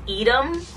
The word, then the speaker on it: Eadem: So I want to say that you pronounce this brand Eadem.